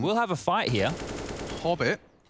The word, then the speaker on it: Hobbit: Hobbit rhymes with pop it.